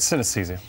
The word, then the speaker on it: synesthesia: dr dr jamie ward to explain his condition sin aesthesia did i pronounce that question that's correct synesthesia synesthesia okay so we've never heard of this